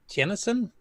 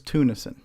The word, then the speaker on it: Tunison: his last name right, Tennyson? He was at CoCo Fest. I remember talking to him. He's known as Deke in Discord. I believe it's Tunison.